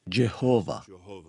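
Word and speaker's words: Jehovah: h où j hvh en anglais on le prononce généralement jekova acte 15 verser 14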